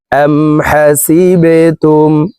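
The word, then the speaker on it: حسبتم: বাজ সি তামিম পেশতুম হাসিবেতুম বা কলকলার হরফ নিচের দিকে ধাবিত করে ধাক্কা দিয়ে উচ্চারণ করব হাসিবেতম হামজা নুন জবর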